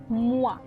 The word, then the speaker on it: moi: Okay, so whenever you see O and E together, you pronounce it as wa, right? So it's moi.